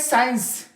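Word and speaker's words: science: पर हमारे पास सी क्या है सेंट सी साइलेंट है सट से मुराद जो हम लोग कहते खुशबू फिर है साइंस साइंस जो हमारे साइंस मजमीन होते हैं साइंस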